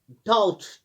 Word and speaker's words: doubt: Saint, क्योंकि इसी तरह डाउट, DOUBT, इसमें बी साइलेंट रहता है, डाउट।